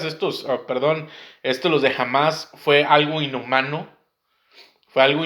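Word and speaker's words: Hamás: siglas eh Es que no es jamás es es h a m s o pero se pronuncia como jamás jamás con h Pero entonces por las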